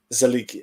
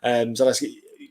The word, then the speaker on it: Zaleski: Absolute savage in Zalik. I fucking hate these pronunciations. Why can't I say the name? So well, bloody hell. Alexis. Yeah. There you go. Thank you, bro. Zaleski.